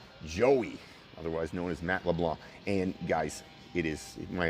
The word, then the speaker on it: LeBlanc: and it's not pronounced leblanc the c is silent my ex-brother-in-law actually his last name is leblanc you pronounce it leblanc just anybody else i